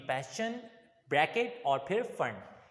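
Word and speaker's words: Pfund: पैश्चन, bracket और फिर फंड। इसको वैसे पी फंड पढ़ते हैं बच्चे, बट उसूली तौर पे ये पी फंड नहीं होता बल्कि फंड होता है, इसमें पी साइलेंट होता है, ठीक है।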